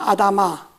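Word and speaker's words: אֲדָמָה: 아다마. 이 히브리 발음인데 아다마 하면 그냥 흙이란 말이에요.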